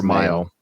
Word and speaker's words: Mayo: don't know how it's pronounced mayo or Mayo Mayo like mayonnaise so he's at the